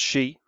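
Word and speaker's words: sídh: It's spelled almost exactly the same as this word sidh in Irish, which is pronounced she, but you can see it's the same word, it's spelled the same.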